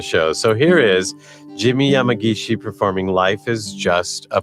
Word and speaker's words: Yamagishi: You could go and find Jimi Yamagishi. By the way, Yamagishi, and Jimi is spelled Jimi.